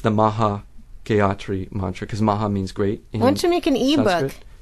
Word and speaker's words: Gayatri: Well, you can look up one mantra I would recommend looking up is the Gayatri mantra, which is spelled G-A-Y, like happy, like the old gay meant happy.